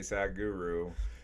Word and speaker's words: Sadhguru: pronounce exact guru just literally legitimately sad guru you know he says a lot faster but s-a-d-h yeah with his nice accent too yeah um you know